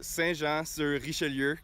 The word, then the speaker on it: Saint-Jean-sur-Richelieu: So, Saint-Jean-sur-Richelieu, Quebec, Canada, and I went to Académie Les Estacades in Trois-Rivières.